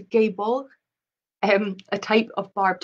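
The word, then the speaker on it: Gáe Bolg: use of the deadly i think it's pronounced a gay ball um a type of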